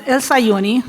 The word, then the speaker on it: Elsauni: Uh last name pronounced Elsauni. It's more overwhelming when you read it than when you pronounce it.